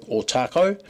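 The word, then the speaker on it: Otakou: a resident out at otaco um some locals still pronounce it OTA but we're trying to educate them look uh three and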